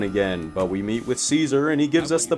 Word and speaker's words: Caesar: lives no I'm not saying his name like kaisar that's stupid it's pronounced Caesar this is a lot of walking what's your